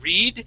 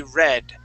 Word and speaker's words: read: one night good now now that word um it would be pronounced in the um in the past here so instead of saying read it would be read Brooke read it in